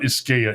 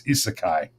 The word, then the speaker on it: Isekai: It's not Iskea, it's Isekai.